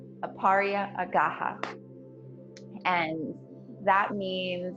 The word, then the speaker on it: Aparigraha: to pronounce it um it's aaria gaha aaria aaha and that means like